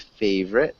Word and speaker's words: favorite: I saw just with favorite it sounded good when you pronounced it just one small thing we usually kind of take out that o so it sounds like favorite favorite yeah and that